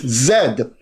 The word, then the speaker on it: zed: x y and z now pronouncing Zed as Z it is not Z that's an American intrusion that's one of the American Accenture eccentricities it is Zed your car number is